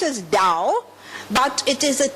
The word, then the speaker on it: Tao: It's not written it's pronounced as Dao but it is a T. The T is not pronounced as Tao. It's pronounced as Dao.